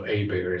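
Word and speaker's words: Hiebert: Context, Paul Hébert, and I say his name like a good Cajun would, so Hébert is how we would pronounce it, or Cajun pronounce it.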